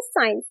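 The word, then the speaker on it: science: तो जब भी किसी वर्ड में ई आई वाई हो और उसे एस सी को क्या प्रोनाउंस करेंगे, सा और सिस के रूप में। जैसे कि सेकंड एग्जांपल है साइंस, एस सी के बाद क्या साउंड वोवल आ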